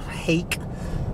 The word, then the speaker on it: Haque: essay by this fellow ooh mayor hake i guess that's how you pronounce h-a-q-u-e and i'm telling you